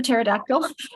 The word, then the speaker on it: pterodactyl: P is for pterodactyl. It's all about those silent letters, like H is for air.